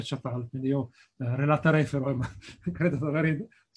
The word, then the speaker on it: Çatalhöyük: in un convegno che non si dice Katal, ma in turco si dice Çatal, quindi io relaterei, però credo di aver centrato la cosa.